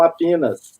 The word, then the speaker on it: Apinas: Então, aqui o pessoal me conhece como Apinas.